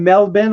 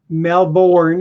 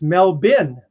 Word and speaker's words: Melbourne: Yvonne from Melbourne, Australia. Eric, when I went to Australia the first time, which was like 30 years ago, I walked in there and I said, oh, I'm in Melbourne.